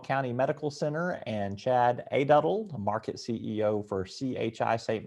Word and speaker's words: Aduddell: of the ouachita county medical center and chad a dotted market ceo for chi saint vincent chad i